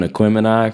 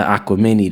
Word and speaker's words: Aquemini: At one point, we were doing Aquemini from Outkast Aquemini, and he put a little chart together, and he said, "Yo, I got the Aquamini together," and I said, "Aquamini."